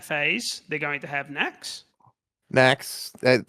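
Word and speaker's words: Naxx: in that phase, they're going to have Nax, Snacks. That rhymes with Kara.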